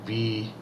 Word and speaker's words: Beansidhe: Actually, we in America spell it Banshee, but it's actually Beansidhe.